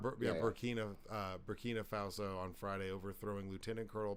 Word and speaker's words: Burkina Faso: So this 34-year-old army captain took over of Barinka Faso on Friday over Burkina. I was saying it wrong. Burkina Faso on Friday, overthrowing Lieutenant Colonel Paul Henry Sandango